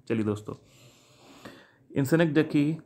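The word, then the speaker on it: synecdoche: जी दोस्तों इसके correct pronunciation है सिनेक्डकी। सिनेक्डॉची भी बोल देते हैं बहुत से, कोई फ़र्क नहीं पड़ता उससे, हमें तो पेपर में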